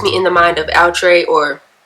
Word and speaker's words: Outre: To me, the stock card puts me in the mind of Outre or Outre. I found out how to pronounce it correctly. It's Outre.